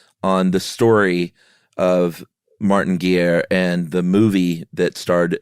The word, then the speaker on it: Guerre: the story uh of Martin is it pronounced a gear I've always pronounced it Martin Garr but yeah we're talking we're going to go to 16th century France so it's probably Martin Geer okay but we're not